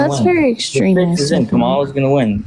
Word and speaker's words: Kamala: Kamala's going to win. Kamala, her name's Kamala, bro.